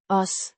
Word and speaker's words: os: Os Means us, or we. It's the object form of the first person plural pronoun. Pronounced. Os. A short O. sound followed by a soft S.